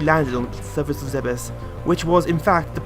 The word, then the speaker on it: Zebes: It is pronounced Zebes, not Zebes.